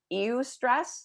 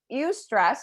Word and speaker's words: eustress: And I don't ever understand this word, eustress. That's how you say it if I'm not mistaken.